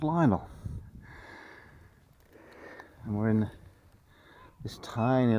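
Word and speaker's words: Lional: Yeah, Lionel. That's how it's spelt, and it's how it's said, spoken, pronounced. And over there is Lionel, and then beyond it, can you see that lighthouse?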